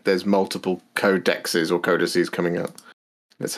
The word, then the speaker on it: codexes: so it's definitely codexes the official warhammer way of pronouncing multiple plural codecs is codexes that is what they're